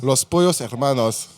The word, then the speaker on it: Los Pollos Hermanos: Faut le présenter à l'espagnol, quoi. Ouais. Pollos. Vas-y, dis-nous. Los Pollos Hermanos.